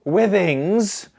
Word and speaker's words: Withings: aware um okay so here we go to withings uh with our second gadget eight years ago